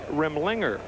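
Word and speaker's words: Remlinger: in for the giants mike rimlinger is the new pitcher accent on the second syllable says the green book mike rimlinger left-hander that when the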